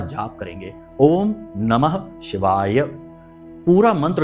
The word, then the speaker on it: शिवाय: पूरा मंत्र उच्चारण करेंगे बहुत से लोगों को हमने देखा कि मंत्र ही सही नहीं बोल रहे तो काम कैसे होगा मंत्रों में शक्ति है ऊर्जा है तो बोलते हैं ओम नमः शिवा ओम नमः शिवा तो ना तो नमः बोला ना ही शिवाय बोला तो ये गलती नहीं